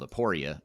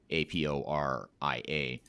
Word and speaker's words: Aporia: last name is hasten h-a-s-o-n and the company is spelled aporia a-p-o-r-i-a but what is the website address if if